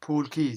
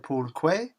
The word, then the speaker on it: Pool Quay: recording, I pronounced it Pool Quay. Well, I don't speak English. You pronounced it Pool Quay until later on in the evening I got a text saying, you know Quay is pronounced Key, right?